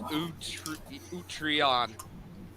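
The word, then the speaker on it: Utreon: her to find it's it's pronounced oh sure u t r e o n that's how you pronounce utrion oh my god there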